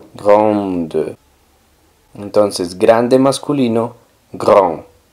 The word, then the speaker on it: grand: grande en franc sería gr gr la n hace que la a suene nasal gr y la d no suena gr y esta palabra